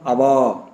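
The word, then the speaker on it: hour: மணி என்பதற்கு என்ன சொல்றோம் அவா அவா எச் ஓ யூ ஆர் அவா அங்க எதை ஆரம்பிக்குது எச் எழுத்து ஆரம்பிக்குது ஆனா சைலெண்ட்டா இருக்குது அங்க ஓ தான் உச்சரிக்கப்படுகிறது தட் இஸ் ஒய் அன்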